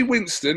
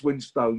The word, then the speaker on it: Winstone: I mean, I'm as guilty as anyone else because I get lazy at times and it comes out as Winston, but it's Winstone, yeah.